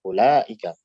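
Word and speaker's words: أولئك: Kita makanya membacanya bukan ulaika, bukan, tapi ulaika, pendek. Langsung ke lam.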